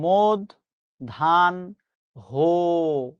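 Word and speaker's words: মধ্যাহ্ন: মধ্যান্য শব্দের সঠিক উচ্চারণ হচ্ছে মদ ধান হো আজকের পথ থেকে যদি এই ভুলটা আমরা না করি আমরা মনে রাখবো মদধানহ্য অপরাণহ সাহান প্রবানহ।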